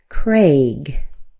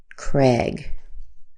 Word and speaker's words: Craig: The correct way would probably be Craig with an a sound. A. But you'll also hear a lot of people say Craig just with an e sound.